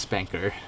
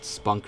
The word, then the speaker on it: spanker: and yes it's pronounced spanker I've debated this as several people several times it's not spunk or spinnaker or anything like that it's definitely the spanker